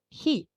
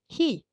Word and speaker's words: へ: Over on the left, you have he, pronounced he, just like the English word he.